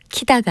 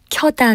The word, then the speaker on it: 켜다: 불 종류를 일으킬 때도 키 다가 아니라 켜다 가 맞는 표현입니다 이와 비슷한 예로 펴다